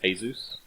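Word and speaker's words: Jesús: yeah probably not the first time it's actually pronounced hey-zeus yes oh that's right they were being escorted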